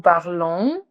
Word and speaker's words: parlons: Nous parlons, no pronuncian la S.